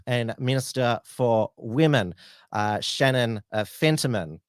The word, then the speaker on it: Fentiman: So he's put his hand up, Stephen Miles, and also the Minister for Health and Minister for Women, Shannon Fentiman. I almost mispronounced her name as fentanyl.